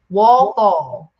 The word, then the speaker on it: Walthall: But yes, now is it Walthall or is it Walthall? Walthall.